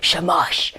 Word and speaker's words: shamash: lighting the shema shamash i keep i keep worrying that i'm saying that wrong no no you're saying it right shamash okay so the shamash